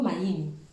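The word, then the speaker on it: מים: Les mères, là, en fait, c'est en hébreu, maïm. Après, peut-être que je ne prononce pas bien, mais c'est maïm. M-A-Y. Ouais, M-A-Y-I-M. C'est maïm.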